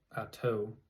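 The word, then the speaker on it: Atah: footnote for that too atas the more correct Hebrew pronunciation of this word than the traditional pronunciation of at used by magicians in the past interesting I've always said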